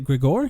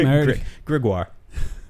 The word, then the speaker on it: Grégoire: Shout out to, is it Gregor? Is that how you say his name? Grégoire. Grégoire, thank you.